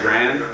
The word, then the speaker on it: Grande: Yeah, I think I heard her say one time that everybody pronounces her last name Grande wrong, but she just goes along with it. That it's supposed to be like Grand. Ariana Grande?